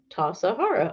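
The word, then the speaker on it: Tassajara: Tasahara is bread. Interesting. Tasahara bread book recipe pronounced Tasahara.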